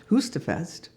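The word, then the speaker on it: Høstfest: you know it was they they pronounced it husta Fest so so my my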